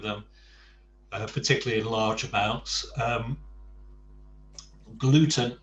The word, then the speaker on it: gluten: Gluten is a perfect cognate in Spanish, but of course it's pronounced gluten.